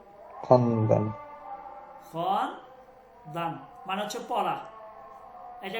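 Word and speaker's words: خواندن: ওকে দেখেন একটা টেক্সট করবো আমরা ছোট টেক্সট ঠিক আছে খন্দান খন্দান এখানে ওয়াওটা উচ্চারণ হবে না খন্দান।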